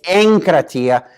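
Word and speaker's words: ἐγκράτεια: is anchor Tia and the little gamma here is normally a hard G but when it comes before a K its anchor Atia and if this is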